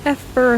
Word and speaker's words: Effer: It is me, Effer, though most just call me because Effer rhymes with heifer and I'm not a cow.